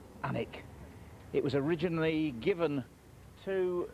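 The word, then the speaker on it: Alnwick: fantastic old pub called the cross the word anic comes from Al a Ln which is Celtic for bright River and Wick which is a Saxon word for Homestead or Farmstead it's obviously pronounced anic it was originally given to the DTI family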